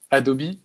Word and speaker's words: Adobe: Adobe euh enfin oui, on prononce Adobe en anglais donc ça n'a rien à voir avec le ch les chaussettes que Harry lui donne.